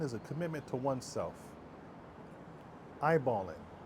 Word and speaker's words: iBallin: iBallin. 2 letters. IB. 2 words. All in. See? It's quite simple but powerful. IB, all in.